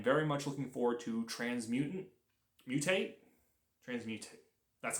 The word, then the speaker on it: Transmutate: And then also, I'm very much looking forward to Transmutate.